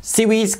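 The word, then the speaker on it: CIWS: 그리고 미해군의 근접방어 무기 시스템인 Close in weapon system 약 CWS인데 붙여서 CWES라고 발음합니다. SEES can detect and destroy incoming missiles and enemy aircraft that penetrated the defenses.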